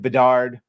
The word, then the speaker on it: Bedard: Both co-founders of Sweet Baby Inc., David Bedard, rhymes with retard, I know, and Kim